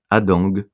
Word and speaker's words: Hadengue: Bonjour à toutes et tous, je suis très heureux de recevoir aujourd'hui Adang, c'est bien comme ça qu'on prononce.